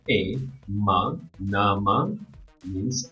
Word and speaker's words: nama: m a so n a is very good NA M A is ma now we combine this which is Nama if you pronounce it in one word n a noun